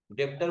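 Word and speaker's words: debtor: डेप्टर बोलते हैं, डेबिटर नहीं कहा जाता, डेप्टर बोला जाता है, ठीक है।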